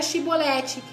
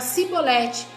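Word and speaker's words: Shibboleth: Porque a pronúncia certa era Shibolete. E eles não conseguiam falar essa palavra. Eles colocavam o S, falava Sibolete.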